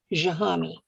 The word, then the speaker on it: Jahami: Now, he spells it various ways in different books, but it's pronounced Jahami.